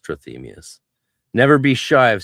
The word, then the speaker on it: Trithemius: But yeah, in English it's pronounced trmius.